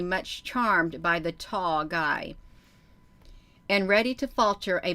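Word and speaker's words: Gy: which are called the guys which is spelled g y but pronounced guy that's the name for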